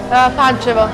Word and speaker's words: Pančevo: Pančevo. Pančevo.